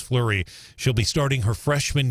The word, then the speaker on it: Fleury: year old Ava Fleury her last name f-l-e-u-r-y that's pronounced flurry she'll be starting her